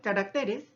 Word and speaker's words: caracteres: Ahora si yo digo carácter, ¿cierto?, pero al decir caracteres, también ya no se ha tildado.